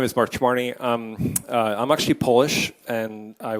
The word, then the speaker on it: Chmarny: It's actually pronounced Chmarny, I'm told too, so I'm learning very quickly.